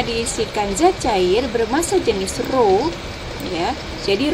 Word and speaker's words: ρ: Ini bacanya ρ ya, di mana ρ itu adalah massa jenis.